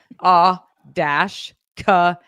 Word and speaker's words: a cappella: It goes like this: A-K-Pella.